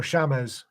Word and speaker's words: Seamus: That's um, James is the reason that James is Seamus or Shamas in Gaelic is because there was no J. So the Irish and Scots that could not pronounce a J, the closest thing was a sh, or they left it off altogether.